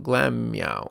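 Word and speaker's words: Glameow: Glam meow. Glam meow. That's how you say it.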